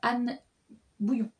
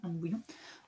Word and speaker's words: Anne Bouillon: Voilà, j'ai lu Les femmes ne meurent pas par hasard, Anne Bouillon. Je crois que ça se prononce comme ça, Anne Bouillon.